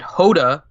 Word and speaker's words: H Yoda: hermit Yoda is it Hoda or H Yoda H Yoda it's h Yoda while typing and Hoda while talking because it's the Y is silent the Y is